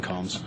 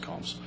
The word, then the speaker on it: Coombs: It's Combs, actually. It's spelled Coombs, it's pronounced Combs.